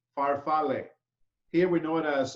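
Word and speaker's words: farfalle: Bai pasta right whatp pasta in Italy is faral okay faral okay say say it again Chef pronounce say it again faral f a r f a l l e faral here we know it as aai the other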